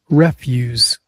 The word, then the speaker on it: refuse: It's pronounced refuge. stress on the first syllable.